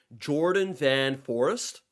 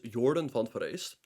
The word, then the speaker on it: Jorden van Foreest: good friend Jordan yes that's how you actually pronounce it it's not Jordan van Forest it's Jordan font verse and Fabiana opens the game with his bread